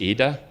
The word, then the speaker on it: Ida: Her name is Ida. It's an Irish name with an accent on the I.